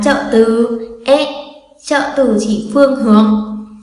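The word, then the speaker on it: へ: Nhấn mạnh lại lần nữa là chúng ta có trợ từ ở đây viết là he nhưng đọc là e, là động từ chỉ phương hướng nha.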